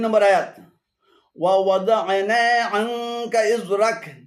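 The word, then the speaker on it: ووضعنا: এখানে ওয়া এবং দা'না উভয়টি ভুল উচ্চারণ। শুদ্ধ উচ্চারণ হবে ওয়া ওয়াদা'না 35 নম্বর সূরাতুল বালাদের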